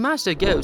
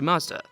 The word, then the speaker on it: Mazda: Mazda was also a perfect way to pay respect to the founder of the company, Matsuda, which is pronounced very close to Mazda.